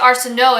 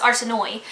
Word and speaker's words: Arsinoe: And then Arsinoe is not pronounced Arsinoe because there's an E at the end. So I would pronounce it Arsinoe in my head, and then I heard the audiobook, and it's no, it's Arsinoe.